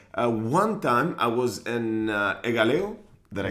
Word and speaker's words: Egaleo: One time I was in Egaleo. Did I say it right? Yes. Egaleo.